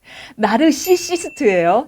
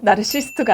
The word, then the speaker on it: 나르시시스트: 봤더니 나르시스트라고 하는데 아니에요. C가 하나 더 들어요. 어려워요, 발음이. 나르시시스트예요. 나르시스트가 아닙니다.